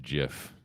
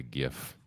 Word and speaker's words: GIF: I don't know the right way to spell it or say it, but yeah, it's actually pronounced GIF, but a lot of people just call it a GIF.